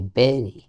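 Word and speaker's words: bury: এটা হচ্ছে বেরি। বেরি মানে কি? ওকে সমাহিত করা। কবরস্থ করা। বেরি উচ্চারণটা একার।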